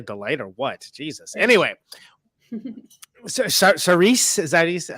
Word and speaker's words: Saoirse: Saoirse, is that how you say it? Saoirse.